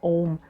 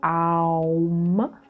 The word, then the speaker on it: Aum: So we don't say Om, we usually say Aum, so it's 3 syllables, 2 syllables, and humming, and which is the according